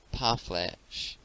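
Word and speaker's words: parflèche: The word is commonly pronounced by Americans parfleche, with the accent on the last syllable.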